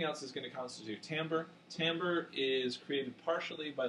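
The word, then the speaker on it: timbre: stimulus so what is tamber and what are the characteristics of complex tones and how do these characteristics determine T why is it not pronounced Timber like it looks yeah it's the quality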